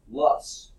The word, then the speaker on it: loess: it says strange name ello es s is pronounced Loess plus plus ll us estimate sounds like his